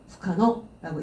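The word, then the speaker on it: 不可: 후카노라고 읽어주시면 되겠습니다.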